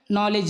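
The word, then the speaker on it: knowledge: है एन के पहले आया हुआ के प्राय साइलेंट होता है नी नी माने घुटना नाइफ नाइफ माने चाकू नॉलेज नॉलेज माने ज्ञान नॉट नॉट माने गाठ डी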